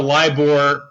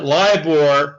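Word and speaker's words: LIBOR: issue with liore and when I say liore what I'm talking about is the uh lior is spelled lib o r it stands for the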